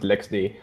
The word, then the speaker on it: LXD: So you actually, when you say it, you spell it out LX.